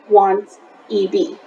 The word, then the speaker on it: wanted: When you're pronouncing words in past tense, you usually add an extra syllable at the end. So if you have a verb and it ends with a D or a T, at the end of the verb, we add the ED, but we pronounce it as id.